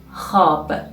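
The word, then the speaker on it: خواب: is in the word hob here we write the letter love in hob but we won't pronounce it which means asleep hop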